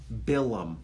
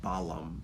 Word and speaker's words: Balaam: Next week's parsha, we meet one of the strangest characters in all of Torah, Bilam, or Balaam, pronounced in English.